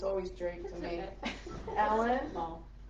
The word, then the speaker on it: Smoll: who is I'm going to get your last name wrong because it's always Drake to me Ellen small small yes so she's gonna come up and um